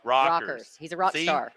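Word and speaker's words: Rekers: Rikers rakers badass dudes rockers is how I should pronounce it but it's spelled r-e-k-e-r-s this dude's awesome Triple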